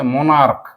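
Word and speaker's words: monarch: যদি ক এর মত উচ্চারণ হয় এটা হচ্ছে মনার্ক কি কেমন উচ্চারণ কষেত্রে ক এর মকম দেখ ক এর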